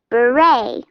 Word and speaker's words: beret: Beret a cap you say it like this Beret Gallery a room in a museum landscape a